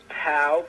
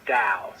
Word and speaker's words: Tao: tower dao it's pieo which in america we pronounce it the tao but it's really pronounced um dao the tao of the